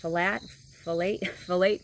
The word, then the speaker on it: phthalate: Phthalate free.